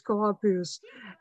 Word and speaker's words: Asclepius: god of medicine, and in Latin he's called Asclepius. And as to this word, there is also the pronunciation is Asclepius.